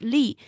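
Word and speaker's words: 栗: uh chestnut and it in Chinese it it pronounced as lee and the What the reason they use that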